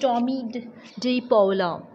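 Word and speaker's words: Tomie dePaola: So this lesson is written by Thomas Anthony Tommy De Paula, pronounced Tommy De Paula, is an American writer and illustrator.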